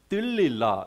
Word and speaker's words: 들릴라: 삼손과 들릴라 예 어이 드릴라고 하는 어 이름이 히브리어로는 어 들릴라 이렇게 발음을 하고요 그리고 어 영어로는 라일라 예 어이 삼손과 들릴라의 그